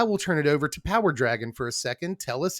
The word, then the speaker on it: PowrDragn: stuff over at trap power Dragon it's spelled weird it's p r d r AGN but hey you can